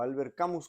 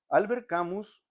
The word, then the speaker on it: Albert Camus: de la literatura este el este el poeta Albert Camí o Albert camus como se le dicen en en español verdad para decirlo en nuestros como lo pronunciaríamos Pero él era él era argelino de